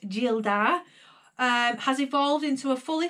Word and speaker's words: Gildar: So Castle Gildar, pronounced Gildar, has evolved into a fully fledged online shop with our own labels.